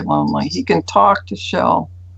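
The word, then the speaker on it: Jell: He can talk to Shell, the one that looks like J-E-L-L as Shell is how you pronounce it.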